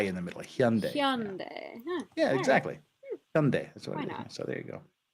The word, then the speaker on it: Hyundai: the the pronunciation of Hyundai it's Hyundai not Hyundai or Hyundai or Hyundai or Hyundai it's Hyun like h-y Hyundai like day like daytime Hyundai that's how you